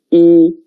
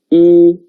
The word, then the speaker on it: 一: And the pronunciation is 一. 跟我读. 一. 一.